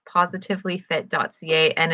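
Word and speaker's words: Pawsitively: up the website it's positively fit dot ca and it's p-a-w-s-i not spelled like pause instead of i i have trouble now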